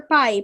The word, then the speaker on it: pi: It is represented by the Greek letter pi, pronounced pi.